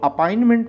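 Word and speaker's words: appointment: देखो अपॉइंटमेंट में बोलते हैं तो टी साइलेंट हो जाता है।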